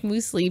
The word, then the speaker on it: muesli: just wanted to make muesli because i don't even know if that's right way pronounce it because it rhymes with because it rhymes with with foosley